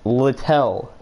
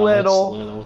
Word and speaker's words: Littell: My last name is pronounced Littell. Yeah. Not little.